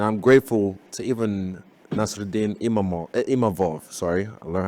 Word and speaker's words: Imavov: Like, I'm making history even when I lose, and I'm grateful to even Nasruddin Imavov, sorry, I learned how to say his name